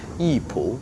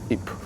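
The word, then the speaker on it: 艺圃: Please memorize this, the Chinese name, Yipu, Yipu, Yipu. Yes, if you memorize the Chinese pronunciation, and you will very easy to find the right answer.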